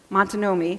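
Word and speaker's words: Miantonomi: Montanomy, thank you, and Canonicus, I got that one right.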